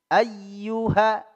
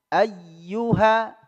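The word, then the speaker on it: أيها: Naam Qul Ya ya ayyuhal Kafirun ayyuha ay ya tasdid ya dihentakkan huruf ya tasdid punya eh hukum tersendiri annabr ya nabr dia dihentakkan ayyuha ayyuha ya Qul Ya ayyuhal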